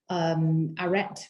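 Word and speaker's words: arête: One of our values is a word that sounds Greek, arrête, but it's pronounced in a French way, and that literally translated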